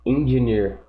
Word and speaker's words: engineer: Engineer. Engineer. Engineer. Okay, that stress goes on the last syllable.